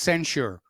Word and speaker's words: censure: this schmucky Schumer not sensitive Chuck Cooper it's pronounced censure which is a slap on the room that